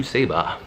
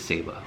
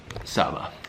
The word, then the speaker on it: Saba: for the people that have not been to Ceiba and i've actually want to come or want